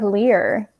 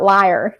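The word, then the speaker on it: Lir: about the children of lear this time it is not liar like every other time i mispronounce that stupid word but anyways we are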